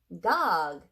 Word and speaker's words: Gág: her last name correctly pronounce it dog to rhyme with jog not bag please millions of cats by